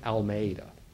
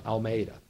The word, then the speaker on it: Almeida: name is Commander Juan almea and I can't pronounce Spanish at all so you know you can look up his name it's but it's it's close I can get it's Commander Juan Almeida so this man the